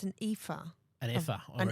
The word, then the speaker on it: ephah: She gathers, from what I've read in my little Bible notes of what I'm trying to see it's an ephah. An ephah. An ephah.